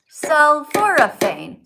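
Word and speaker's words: sulforaphane: But I took my time to sound out every syllable and you missed a syllable.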